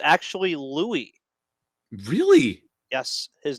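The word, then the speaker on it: Luis: It's actually Louis.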